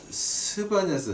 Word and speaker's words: 스바냐: 오늘 본문 말씀은 이제 스바냐서 제파나이아, 근데 아마 이게 한국말로 스바냐라고 번역을 했더라고요. 근데 이게 우리 한국말이 히브리어에 더 가까워요. 왜냐면 이걸 갖다 이제 독일어로 번역해 놓은 걸 갖다 영어로 다시 발음을 하니까는 제파나야가 되는데, 제파나야는 그거는 이제 독일 말을, 그 독일 스펠을 영어로 하다 보니까 이렇게 발음이 나온 거고, 실제는 스바냐, 이게 한국말이 오히려 더 히브리어에 가까워요. 그 발음이.